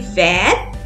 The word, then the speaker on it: vert: In green color, the spellings are also different and the pronunciation is also different. So to masculine we say vert and to femina we say vert.